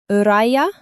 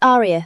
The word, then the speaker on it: Aria: Let's start with uh Uraya? Uraya Melanti. Aria raised her hand. It's Aria, sir.